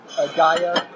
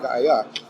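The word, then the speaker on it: Gaea: into the Roman language, so we get Gaia, which is G-A-E-A, and it's misspelled by almost everybody today as G-A-I-A, but that was a transliteration from hearing the pronunciation of it as Gaia and writing it down that way.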